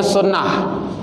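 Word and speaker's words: سنة: Tulisannya sunnatan, bacanya sunnah. Jadi ta itu ta marbuta, sunnah.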